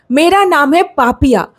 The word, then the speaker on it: Papiya: My name is Papiya P.A. Why do you pronounce it wrong, brother?